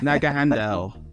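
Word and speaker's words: Naganadel: this this Ultra it's like so hard to pronounce dud right nag Handel that's its name yes Naga Handel that's his name and so just so you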